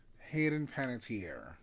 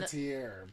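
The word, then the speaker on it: Hayden Panettiere: her too Hayden P how do you pronounce her name Hayden pantier P pantier she was in pantier panties in the air she was in the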